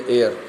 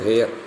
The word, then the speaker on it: heir: It is known as air. It is pronounced as air, not hair.